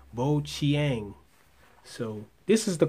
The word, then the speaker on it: Bojiang: my review of the bo Chang S1 chiropter now I'm hearing that in Chinese the J makes a CH sound so if that's true then this company is pronounced boang so this this is